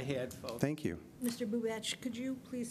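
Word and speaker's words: Bubacz: It's B as in boy, U, B as in boy, A as in apple, C as in cat, Z as in zebra, and it's pronounced Bubach.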